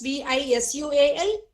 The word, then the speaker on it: visual: your upper lip, your lower lip should touch the upper teeth. That's a rule in phonetics which we should be really, aware of.